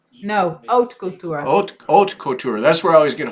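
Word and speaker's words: haute couture: Holt couture embroidery. Do you say the H? No. Our oat couture.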